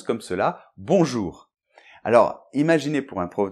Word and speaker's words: bonjour: apprendre une langue où le mot bonjour se prononce comme ça, alors qu'il y a un O et un N, on les prononce pas, O et U, je sais pas où ils se prononcent, le R final, il est compliqué.